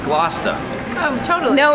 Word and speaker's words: Gloucester: Gloucester, which is naturally pronounced Gloucester.